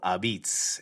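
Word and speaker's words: apizza: go check it out it is not called pizza as ben said before it is called abits and it's spelled a-p-i-z-z-a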